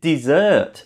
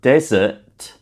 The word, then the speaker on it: dessert: I said dessert, not desert.